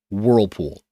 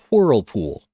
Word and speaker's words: Whirlpool: of coin join called whirlpool sorry whirlpool supposed to be a silent h in there i'll make it a little less silent but we might do